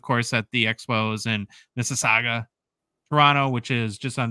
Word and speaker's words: Mississauga: We should mention too, of course, that the Expos in Mississauga, Toronto, which is just on the outskirts of the city. Did I say it right? Yeah, you said it perfectly.